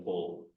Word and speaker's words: Paul: But I think the Justin, he would pronounce in a French style, but Paul has a French pronunciation. My French, I don't think I'd quite say it. Paul. It's more or less Paul, but because it's the French do say it in a way that makes it sound different.